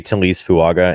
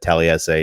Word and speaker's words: Talise Fuaga: See, and now you say Talise Fuaga, and the fact that I said Taliesin is, I think it goes down as the funniest mispronunciation, because you're right, it's definitely not that.